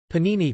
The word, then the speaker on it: Pāṇini: Pāṇini, pronounced Pa-in-I, Florida, 4th century BCE or 6th to